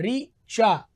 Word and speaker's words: ऋचा: नाम होता है ऋचा, तो ऋचा में जो र है वो दरअसल र नहीं, वो री है। री चा, री और चा, हम उसको क्या बोल देते हैं, र में छोटी मात्रा लगा करके उच्चारण लेखन करने लग जाते हैं।